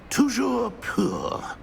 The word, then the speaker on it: Toujours pur: Toujours pur.